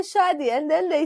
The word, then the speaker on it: Shadi: So as we begin, right, Shadi, and I know we joked about how Shadi actually means marriage, right?